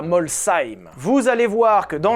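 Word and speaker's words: Molsheim: Oui, ça se dit Molshim pas Molshim. Ni même Molshim, c'est Molshim. Je sais que je le prononce bien.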